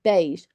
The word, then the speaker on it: beige: e sound you know you hear beige b a you hear an a instead so when you when